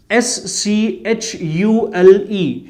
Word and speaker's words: Schule: If there is SCH, okay, ST, SP combinations, then we take like ST, SH, SHPA. For example, SCHULE, Schule. Schule, we'll spell it as Schule, the school. Okay, so we have got the SCH, ST and SP combinations, wherein we'll have to use sh, majorly sh.